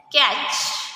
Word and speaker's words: catch: Next CATCH. Catch. Here T is silent letter. T is silent letter. So how to read? Catch.